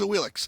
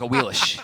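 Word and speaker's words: Awilix: That's why, as we finally have her being played in the SPL, it's now a Wheelish. Yeah, she's Wheelish. Back when it was Cuvo thinking about playing her, it was a Wheelix.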